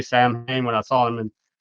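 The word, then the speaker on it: Samhain: Sam Hayne that's so I I think they would just pronounce it Sam Hayne most time to avoid confusion.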